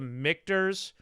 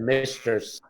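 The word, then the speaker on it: Michter's: stuff but let's start let's start with the mikters let's go back to back to the drawing board here right a little bit i pronounced it wrong i said ministers uh you know misters mrs it doesn't matter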